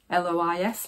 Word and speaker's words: Lois: So this is the Lois dress, or L-O-I-S, Lois, I'm pronouncing it as Lois Lane, yep, by Tessuti Fabrics.